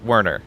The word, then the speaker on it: Werner: It's pronounced Werner. It's Welsh.